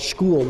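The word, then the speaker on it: Skhul: It's called Shkul, which is spelled like the word skull.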